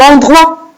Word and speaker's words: endroit: Endroit avec une lettre muette à la fin. La lettre T. je la vois, mais je ne l'entends pas.